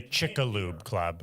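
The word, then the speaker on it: Chicxulub: So, what do they call when the asteroid the Chickaloo Club? I remember. Oh, is that how you pronounce it? Impact. The Chick. I thought it was Chickixel.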